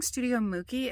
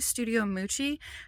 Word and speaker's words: Studio Mucci: reason in the video i kept saying studio mookie it's actually studio moochie and i knew that